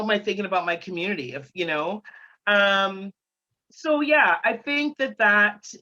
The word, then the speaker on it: QMOONITI: It is spelled QMOON, so like the moon, that's the feminine bent to it there. ITI. So QMOONITI, Community. And I started that in